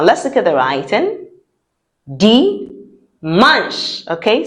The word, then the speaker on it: dimanche: Dimanche. Now let's look at the writing. Dimanche. Okay, so it's not dimanche. It is dimanche. And we say manche because CH in French sounds sh, not ch.